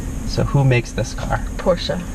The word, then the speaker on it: Porsche: who makes this car Porsche that's right two syllables Porsche Paul oh I